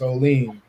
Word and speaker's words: Olean: It's everybody here, and it's Olean.